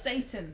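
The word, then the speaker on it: seitan: It's pronounced Satan.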